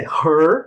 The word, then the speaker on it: her: Mas é her, olha a pronúncia, parece han.